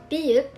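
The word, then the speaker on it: 비읍: Biyup, pronounced as b, or actually in a degree between p and b at the beginning of a word, and as p at the end.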